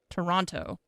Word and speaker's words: Toronto: You pronounce both T's in Toronto. Toronto.